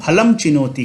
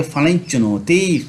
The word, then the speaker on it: फलं चिनोति: तो हम फलम चिनोति कभी नहीं पढ़ेंगे, हम पढ़ेंगे फलं चिनोति, फलं चिनोति, यह उच्चारण हम पढ़ेंगे फलं चिनोति।